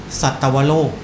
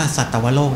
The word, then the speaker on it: สัตวโลก: นะ ครับ ก็ คือ สัตวโลก คำ นี้ นี่ ต้อง อ่าน ว่า สัตวโลก นะ ครับ ไม่ ใช่ สัตว์ โลก นะ ฮะ ถ้า สัตว์ โลก เ